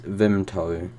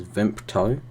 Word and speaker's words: Vimto: me okay so next one we've got is vimto commonly mispronounced as vinto but there's no p in it I definitely